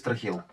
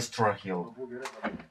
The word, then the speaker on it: Strahil: Strahil is "Strah-hil", not "Straw-hill".